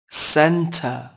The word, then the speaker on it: centre: shan shan shan hờ centre có hai âm tiết trọng âm rơi vào âm Tiết đầu tiên các bạn nhé hợp âm tiết thứ